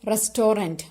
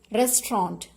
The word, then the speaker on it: restaurant: cook in a hotel or restaurant please don't pronounce it as restorant restorant is wrong the correct pronunciation is restaurant okay restaurant a chef works in a restaurant